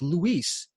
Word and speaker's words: Luis: You've been really pronouncing Luis's name wrong, and you've known him for several years." I go, "What?" "Well, his name's Luis."